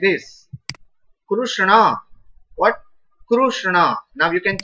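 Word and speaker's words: कृष्ण: about this whole world who doesn't know how to pronounce krishna they in english some people are writing those who don't know are writing krishna like this and they pronounce like krishna absolutely wrong krishna it's wrong in sanskrit when you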